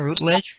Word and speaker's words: Routledge: The author is our guest, Donna Orange, and you can find the book on Amazon and at Routledge. Am I pronouncing this correctly, Donna? Routledge?